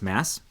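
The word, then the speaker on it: Maas: court of thorns and roses by sarah m-a-a-s mass apparently there's four books i'm not sure um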